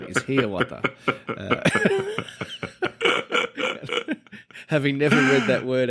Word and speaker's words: Hiawatha: Hiawatha Pioneer Trail in Illinois, USA.